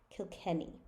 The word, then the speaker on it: Kilkenny: town in Ireland called Kilkenny and it's spelled to kill Kenny oh I'm sorry kill Kenny so it rhymes with any and many kill Kenny so that's not a